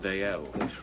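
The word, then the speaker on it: Dalziel: make note that yeah how you spell that name d a l z i e l old Scots name pronounced d l you know it now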